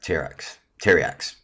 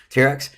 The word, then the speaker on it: Pteriax: Pteriax. Yeah, because the P is silent. Pteriax, it is a 4/4 dinosaur, 5 double time and double primal.